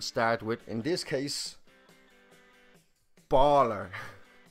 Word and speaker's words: Bálor: a father would start with in this case baller not a baller like a